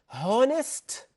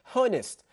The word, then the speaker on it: honest: the H1 we yes it is written but we don't pronounce it we don't pronounce it